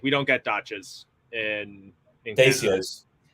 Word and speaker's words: Dacia: Apparently, we were both wrong. It's Dacia. Dacia.